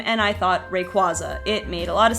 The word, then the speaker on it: Rayquaza: I mean I know the first a in Rayquaza is the long a like that but it's ra ngoai race so that makes sense but apparently the qu a in Rayquaza or the qu Aza the whole last part is like it comes from quasar so I've come around